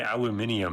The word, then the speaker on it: aluminium: Aluminum cuz people in Great Britain say aluminium and they're just adding in another letter for no reason. Aluminium. Aluminum.